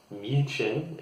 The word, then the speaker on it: München: For example, in German, in München is the German way of saying it, but we even write it differently in English, and that's Munich.